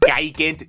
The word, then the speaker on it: Gigant: Because how can you expect kids to look at this and say it properly like Gigant, Gigant, Gigant? It's much easier to say Giant V.